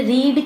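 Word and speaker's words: read: यहाँ पे रीड की जो सेकेंड फॉर्म होती है उसे हम रेड पढ़ते हैं, लेकिन स्पेलिंग सेम होती है।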